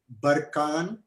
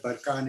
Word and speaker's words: barchan: know these particular crescent dunes are barkan or barchandu they're pronounced differently but the word barkhan is actually from kazakhstan